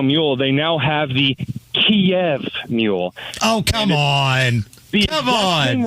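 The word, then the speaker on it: Kyiv: war is that apparently we've been saying Kiev wrong, including people from Ukraine have been saying it wrong for like 30 years, and it's actually Kiev, and it's spelled with like 18 Y's and V's after the K.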